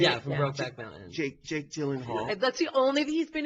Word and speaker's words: Gyllenhaal: Gyllenhaal. Is that how you say it? Yeah, from Brokeback Mountain. Jake Gyllenhaal.